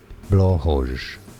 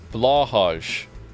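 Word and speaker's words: Blåhaj: Blahoj is one of the pronunciations. Blahaj.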